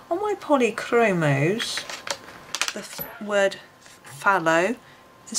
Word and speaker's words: phthalo: a l o on my polychromos the word fallow is spelt p h t h a l o